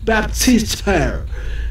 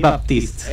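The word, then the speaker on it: Baptiste: enfrentará la estadounidense Hiley Baptist. Eh, disculpe mi pronunciación. Baptista. Exactamente. Sí, señor Felipe.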